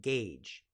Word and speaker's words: gauge: or make it easier the next word is gauge gauge now take a look at how this word is spelled right it's g a u g right it looks very strange so be careful it's gauge now gauge means we